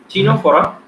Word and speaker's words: Ctenophora: Okay, and then next is Ctenophora. C is silent here.